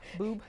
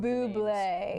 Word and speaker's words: Boué: Boob. You're really having a good time with his name today. I'm not a very good pronunciator of Bubé.